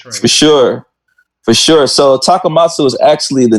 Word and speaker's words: Takamatsu: with shad and smith specifically about japan and takamatsu is that correct pronunciations yes it's takamatsu five arrows is the name in the bj